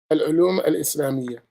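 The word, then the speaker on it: العلوم الإسلامية: Al-ulum al-Islamiyya.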